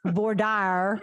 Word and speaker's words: voir dire: Unless you're in Texas and you're being chosen for a jury, in which it's voir dire. Did you know that? That's how they pronounce that.